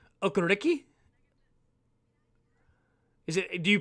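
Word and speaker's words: Okereke: okariki so that it's the last two e are pronounced like e but the first one's an a okariki is it key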